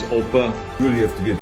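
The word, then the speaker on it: Opa: grandpa grandpa or oppa in german it's oppa you really have to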